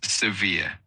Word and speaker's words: severe: Uh the word severe is pronounced as severe with the emphasis on the second syllable.